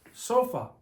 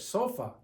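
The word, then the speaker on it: sofá: it breaks the rule this accent mark over the a is telling you to pronounce the word stressing the a okay it is a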